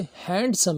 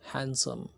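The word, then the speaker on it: handsome: इसे हैंडसम नहीं बोलना, डी यहाँ पर साइलेंट है। तो हैंडसम।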